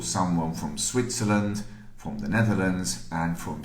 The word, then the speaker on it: Switzerland: Okay, and again, careful with the pronunciation here. Switzerland is not Switzerland. Switzerland. And Swiss, not Swiss. Swiss. Maybe it's Swiss after you had a glass of wine.